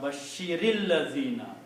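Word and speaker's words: بشير الذين: which is Allazina, then in order to combine these two, you have to pronounce this with a kasra, Bashiril Lazina. Okay? So this sukoon will change into a kasra, and the pronunciation will be Bashiril Lazina.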